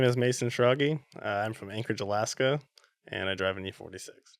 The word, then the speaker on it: Schrage: It's Schrage. German. No one guesses.